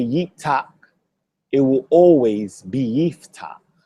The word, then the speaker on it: Yeftakh: You can never say Yeftahk.